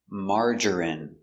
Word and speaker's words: margarine: I don't like margarine pronunciation margarine M ah open Sound a m mar mar J J strong J Marge ER marger marger I Margery Margery margarine margarine margarine three syllables stress on the first syllable Marge margarine margarine I